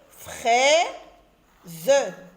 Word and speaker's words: fraise: AI se lit et, fraise, fraise.